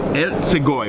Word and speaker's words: Ercigoj: Ercigoj, which is why I had him pronounce it first before I did.